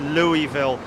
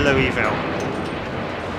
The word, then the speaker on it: Louisville: is Jerry Airside at Louisville with the UPS 747 operations. Yeah, just fantastic. What a crazy time we've had at Louisville, or Louisville, as American friends prefer me to. Prefer it to be pronounced.